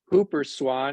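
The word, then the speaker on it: Whooper swan: I believe it's pronounced Hooper swan.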